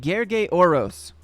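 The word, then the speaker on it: Gergely Orosz: The L is silent, okay?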